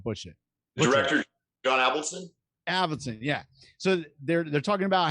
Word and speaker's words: Avildsen: Avildsen, yeah.